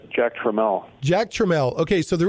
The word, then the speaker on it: Tramiel: I've been pronouncing it wrong all these years. Apparently, it's Jack Trammell.